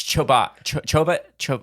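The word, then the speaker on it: Chobot: Oh, it's Choba.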